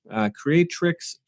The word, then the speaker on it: Creatrix: Creatrix Rising, and it's spelled Creatrix.